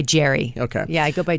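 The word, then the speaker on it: Jeri: Is it Jaren? Well, yes, but I go by Jerry.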